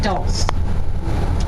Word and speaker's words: dulse: Now has anyone heard of dulse? No, okay. So dulse is the Gaelic word for seaweed. It rhymes with your pulse.